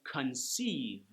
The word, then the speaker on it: conceive: And then: conceive... four vowels... two sounds. Con Ceive.